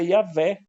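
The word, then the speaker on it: Iavé: w e H que de acordo com as tradições judaicas se pronuncia yavé que é traduzido como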